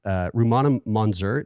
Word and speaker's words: Rumana Monzur: Out of Darkness, which is the story of Rumana Monzur. Did I pronounce that Yes, correctly?